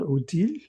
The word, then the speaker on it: Othalaz: So we pronounce this Othalaz, O-T-H-A-L-A-Z. It could also be called Odil or Othal in the different dialects and different languages that